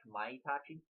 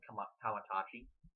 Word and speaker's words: Kamaitachi: Christopher Daniels and Kazarian, and Kamaitachi, which it's spelled like Kamaitachi, which is how you're supposed to say it, but this guy's a heel, so Kamaitachi is what they're calling him.